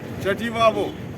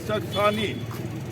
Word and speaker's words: Chakthani: What the Tibetans have mispronounced as Chativavo. Chativavo. So Tilopa was either born in Gajra or Chativavo, that is Chakthani.